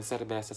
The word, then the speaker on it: cerveza: Ruta, Sabado, Sayote, Chayote aquí, Senador, Cerveza, yan cerveza. Sa kanila ang pag-pronounce ay cerveza, cerveza, ganyan.